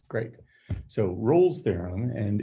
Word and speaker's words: Rolle: all right great so roll's theorem and it is not pronounced rowley or raleigh or anything like that it's rolls theorem um is a theorem